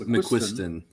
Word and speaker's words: McQuiston: I think it's McQuist McQuiston. McQuiston. McQuiston. McQuiston. Thank you.